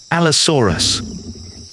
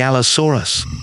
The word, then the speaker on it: Allosaurus: Allosaurus. The world of the Allosaurus.